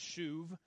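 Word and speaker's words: שוב: It's pronounced shuv.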